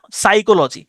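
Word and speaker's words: psychology: আছে এর যেটা বললাম সাইকোলজি সাইকোলজিতেও প্রথম যে পিটা এটা উচ্চারণ হয় না এসই সি এইচও সাইকো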